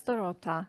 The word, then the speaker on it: Dorota: Okay, Dorota. Sorry, is it Dorota or Dorota? I know I ask you that every time. Yeah, it's Dorota. It's fine. Yeah, how you say it.